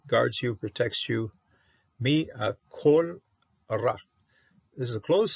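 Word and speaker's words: כל: Mi kol ra. This is a closed syllable, so this is a kamis hatuv. Okay? A kamis hatuv is a kamis that has to be pronounced as an O.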